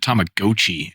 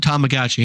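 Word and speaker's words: Tamagotchi: up with their announcement they called it tomag GOI and I'm like that's not don't do that don't do that that's not what that's called I care that's what you called it I called it tomagotchi and that's his name damn it uh which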